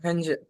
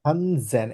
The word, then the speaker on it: Hansen: Hansen. Hansen. হানসেন, এস কে জেড এর মতো উচ্চারণ করি না?